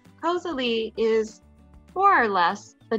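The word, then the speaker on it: koselig: spell it posely and this is how you say it lee cosali is more or less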